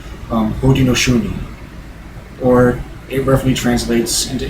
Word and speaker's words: Haudenosaunee: In their own native language, they were known as Haudenosaunee, it's pronounced. Haudenosaunee, or it roughly translates into English, the people of the Longhouse, because of their long houses.